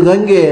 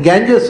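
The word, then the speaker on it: Ganges: ಅಲ್ಲಿ ಸ್ನಾನ ಮಾಡ್ತಾ ಇದ್ದಂಥ ಮಡಿವಂತ ಹತ್ರ ಅವ್ರು ಇದು ಗಂಗೆ ಅಂದರು. ಅದನ್ನು ಅವ್ರು ಗಂಗೆ, ಗ್ಯಾಂಜಸ್ ಅಂತ ಪ್ರೊನೌನ್ಸಿಯೇಷನ್ ಅಲ್ಲ ಅದರದ್ದು. ಅದರ GES ಗಂಗೆ ಅಷ್ಟೇ ಅದು ಉಚ್ಚಾರ. ಅದು ಗಾಂಜಸ್ಸು ಅಂತ ನಮಗೆ ಉಚ್ಚಾರ ಮಾಡಲಿಕ್ಕೆ ಗೊತ್ತಿಲ್ಲದೆ ನಾವು ಮಾಡಿದ್ದು. ಹಾಗಾಗಿ ಈಗ ಒಂಥರ ಬೇರೆ ಥರ ಉಚ್ಚಾರ ಆಗಬೇಕಲ್ಲ.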